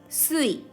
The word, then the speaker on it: 水: And this kanji, onyomi, we read sui.